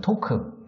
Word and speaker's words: TAWK: 그래서 기술주는 저희가 이제 그 지난 시간에도 한번 얘기했던 그 토크, TAWK, 토크, 이게 좀 이야기하다, 토크에서 이제 발음을 비슷하게 따서 TAWK, 요게 이제 그